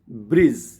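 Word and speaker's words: bridge: rule ये है कि डी के बाद अगर जी आता है मतलब डीजी का कॉमिनेशन आता है डी और जी तो उसमें डी को साइलेंट मानना है ओनली जी का प्रोनंसिएशन करना है जैसे देखते हैं कुछ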